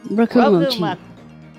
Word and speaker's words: Rokumochi: Yeah, Rokumochi.